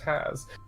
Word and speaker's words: Haas: Haas. Zila. It's spelled way different than it sounds. It's literally just has.